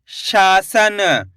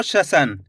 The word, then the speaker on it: शासन: के बन जाएगा शसन ऐसे नहीं पढ़ना आपको शसन अगर शसन पढ़ोगे तो तीन अक्षर वाले शब्द का उच्चारण निकल जाएगा शसन जबकि यहां पे श के अंदर आ की मात्रा तो खींच के पढ़ेंगे शासन एक बार फिर से